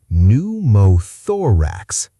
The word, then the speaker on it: pneumothorax: Pneumothorax. If you watched the first video in this series, you already know this one. Let's confirm it. Pneumothorax. The P is silent. Pneu sounds like new.